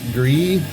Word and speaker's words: Gris: this but the band I guess g r i s gree it's a French Canadian